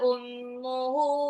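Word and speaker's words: أم: adalah hawiah neraka hawiyah Ummu mim mim tasdid itu gunah bacanya enggak boleh Umu tapi Ummu umuhu ya hawiah hannya Mat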